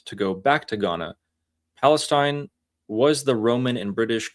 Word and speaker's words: Palestine: And that's why they have to change Palestine to Philistine, because they don't have the pe sound.